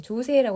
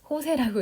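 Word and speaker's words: José: 네, 아무튼 네, 호세라고 하는 이 사람에 대해서 여러분들 조세라고 해서 조세호 아닙니다. 호세라고 읽어주세요.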